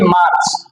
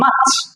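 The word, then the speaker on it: March: আচ্ছা ফেব্রুয়ারি ফেব্রুয়ারি এটাকে আমরা বলি মার্চ নট এটা মার্চ এটা হচ্ছে মাচ কি হবে মাচ মাচ হ্যা শুধু মাচ এটা কি হবে মাচ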